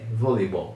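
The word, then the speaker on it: volleyball: a l l voleibol tome cuidado que em português nós costumamos falar bastante esse e aqui a gente fala voleibol mas aqui o e é bem perceptivo é voleibol volei parece que já vai direto pro Y quase voleibol próximo esporte com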